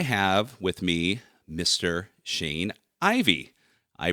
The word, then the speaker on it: Ivey: Shane Ivey. I pronounced Ivey correctly, so that's 1 point for me.